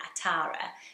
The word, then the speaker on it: Atara: interesting when Atara and they say it with a very strong tea Atara so there are a